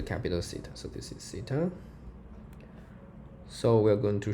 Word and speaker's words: Theta: it's it's the capital city so this is Theta so we are going to show that firstly